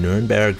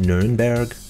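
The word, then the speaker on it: Nürnberg: And the Germans call it Nuremberg, but here on the map and on American pages it's always Nuremberg. I think it's just the American pronunciation, kind of like Cologne for Köln.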